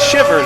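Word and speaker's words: Chivers: It's spelled Chibers with a C, but it's Shivers is how it's pronounced.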